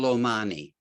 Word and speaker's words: Omani: my name is omani my name is pronounced the same way as the country of oman is so you may be